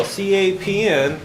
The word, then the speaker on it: CAPM: capital asset pricing model capm is pronounced cap M so if you want